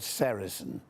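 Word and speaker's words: sericin: One of them a very important one is called sarasin. Now you spell that s e r i c i n.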